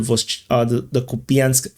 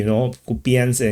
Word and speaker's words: Kupiansk: Someone mentioned that I finally pronounced the SK, I'm just lazy, Kupiansk and Kupiansk, like to English speaking people, there's no difference. But I think to Russians or Ukrainians, there's probably a big difference.